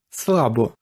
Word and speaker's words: слабо: и называется наш выпуск снова обратите внимание на ударение в слове слабо с ударением на первый слог слабо это противоположное слово антоним